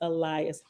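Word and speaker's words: Illaes: words in the book it's spelled i-l-l-a-e-s so it's Elias thank you nazarena scene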